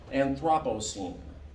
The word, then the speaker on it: Anthropocene: Anthropocene. That's how you pronounce it.